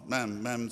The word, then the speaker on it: ma'am: Ma'am, ma'am to rhyme with spam.